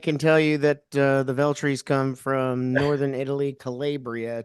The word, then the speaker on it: Veltri: Veltri?